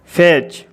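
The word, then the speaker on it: fetch: सी एच मैच एफ ई टी सी एच फैच तो देखिए इन सभी शब्दों में टी के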